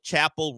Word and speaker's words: Chappell: I don't know yeah the only difference is there's no e at the end it is spelled exactly the same as Chappelle except there's no e at the end so Chapel rone she is a